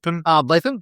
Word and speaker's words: Ardlethan: Let me get that pronunciation. Ardlethan, thank you very much.